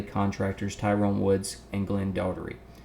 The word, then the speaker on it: Doherty: Tyrone Woods and Glenn Daugherty. Doherty. I don't know how they pronounce that. We say Daugherty. I had a coach. His name was Daugherty, so that's what I'm saying.